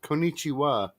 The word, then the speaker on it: konnichiwa: think the word you were looking for was konnichiwa thank you i knew i knew i knew i pronounced that wrong it's like you didn't be